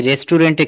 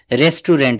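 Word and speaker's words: restaurant: আমার ফ্রেন্ডদেরকে নিয়ে আমি রেস্টুরেন্টে খেতে যাব। রেস্টুরেন্ট আসলে কিন্তু রেস্টুরেন্ট বলা যাবে না। এটা বলতে হবে রেস্টুরন্ট। এটার সঠিক উচ্চারণটা কি হবে?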